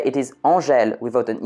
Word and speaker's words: Angèle: In France, the name Angèle, that's how we pronounce it, has two spellings, a male one and a female one.